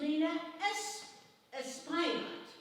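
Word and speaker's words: Rhina Espaillat: Her name is Rena Espillat.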